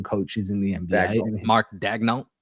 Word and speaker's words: Daigneault: Mark Daigneault. Daigneault, that's it.